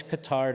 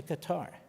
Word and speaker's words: Qatar: Q-A-T-A-R. I think they changed the pronunciation, but it's always Qatar to me.